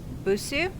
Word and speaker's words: Busuu: I'm using Duolingo and Busuu. They're both free. Busuu is, I think I'm pronouncing it correctly, it's B-U-S-U-U.